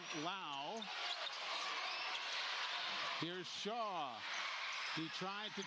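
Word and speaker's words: Lowe: AJ Shaw to Lao. He spells it low. L O W E, but it's pronounced like cow with an L in front. Lao.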